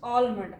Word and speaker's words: almond: So the right option is almond. In this one, L is silent.